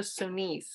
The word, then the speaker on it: Sonis: general louis gaston de sonis i'll spell that s-o-n-i-s sorry to my french teachers francis and i decided to pronounce it like that so it's easier for people to understand how we're saying it s-o-n-i-s he was alive between 1825 and 1887.